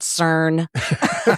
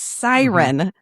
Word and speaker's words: SYRN: I said CERN. I was like, name of her lingerie line is CERN. That's weird. It's Siren. Siren.